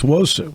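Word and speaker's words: Nwosu: It's Wosu. The end is silent.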